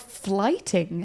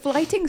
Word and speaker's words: Flyting: to the Middle Ages with the art of flighting. Have you heard about flighting, Ross? I've heard Jerry Seinfeld do a fair amount of stuff on it, yes. Flighting spelled Flyting.